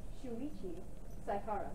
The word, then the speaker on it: Shuichi Saihara: Shuichi Saihara.